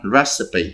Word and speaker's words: recipe: Recipe, đọc là recipe, không có đọc receipt nha, receipt đã được tính tiền rồi.